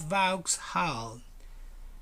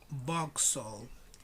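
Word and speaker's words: Vauxhall: about hull box hal now it's not valk's hull how do you think it is give me possibilities what do you think what do you think give me one give me two give me three okay ready this subway station it's called box sold box soul it's not vox hull no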